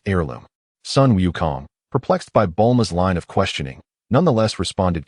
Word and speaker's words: Bulma: It's Bulma. Please refrain from mispronouncing it.